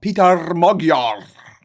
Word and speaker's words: Péter Magyar: Hey, Péter, and then the E as in bed, the R is slightly rolled.